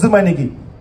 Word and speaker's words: Zoumanigui: name boy it's uh it's pronounced do my Nicki and I'm not going